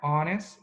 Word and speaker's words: honest: Decimos our, honest, no pronunciamos la H, de H, de consonant H.